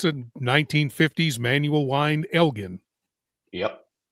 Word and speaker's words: Elgin: Or Elgin. I should say it correctly. Elgin's the way we say it in Texas because of the town. Right next to Austin, it's Elgin. Sorry, folks. Sorry, folks in Illinois.